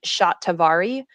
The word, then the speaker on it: Shatavari: There's an Indian herb called shatavari. It's an Ayurvedic herb. Are you familiar with shatavari? How do you spell it?